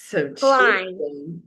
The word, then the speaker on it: climb: The next picture would be climb. Yes, of course. Climb. Climb. Climb. Climb. And you can see the B is after the letter M making it quiet.